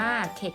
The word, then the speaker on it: เข็ด: ถึง ใจ นะ คะ เข็ด ขยาด อ่าน ว่า เขต ค่ะ ยาน เข็ด ขยาด นะ